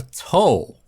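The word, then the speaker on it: 斗: The next level up is called a toe. Toe. T-O, pronounced like the toe on your foot.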